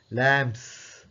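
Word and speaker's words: lamps: consonant எனவே நாங்க அதை ப்ளூரல் பன்மையாக சொல்லும்பொழுது லேம்ப்ஸ் கடைசிக்கு அந்த எஸ் எஸ் என்று தான் உச்சரிக்கணும் எஸ் எஸ் என்று தான் உச்சரிக்கணும் z சத்தம் கொடுக்கிறது இல்லை லேம்ப்ஸ் லேம்ப்ஸ் லேம்ப்ஸ் என்று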